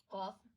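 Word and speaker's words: قاف: There are 2 letters, Qaaf and kaaf. They have a similar sound, and the difference between them is that Qaaf is pronounced heavily and kaaf is pronounced lightly.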